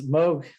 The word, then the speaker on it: Moog: It's pronounced Moog, not Moog. Yeah, it's Moog.